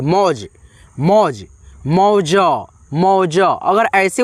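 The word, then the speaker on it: mauj: तो जे से ज अब देखो लास्ट वाला अक्षर में अ का ध्वनि नहीं होता है मौज मौज मौज मौज अगर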